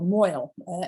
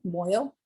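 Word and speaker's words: mohel: We get what's called a moil, M-O-H-E-L. You can see the name right here, moil. I know, you're like, how did you get moil, which sounds like oil, out of M-O-H-E-L?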